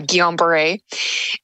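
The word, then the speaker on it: Guillain-Barré: a rare illness called gomber syndrome and I know it's very hard to pronounce so that's how it's pronounced uh gomber and I remember at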